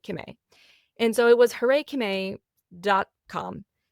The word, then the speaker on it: Kimmay: And just for context, my name is Kimmay. It's not Kim and the letter A anymore. I've just like truncated it and made it Kimmay.